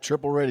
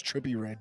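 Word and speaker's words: Trippie Redd: my phone i thought i said triple red it's trippy red sorry oh trippy right t-r-i-p-p-i-e my lord god that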